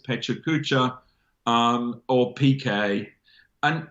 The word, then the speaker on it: Pecha Kucha: am I allowed am I allowed to say Pecha Kucha as I say it or you pronounce it the chalk chacha-chacha-chacha-chow yeah it's just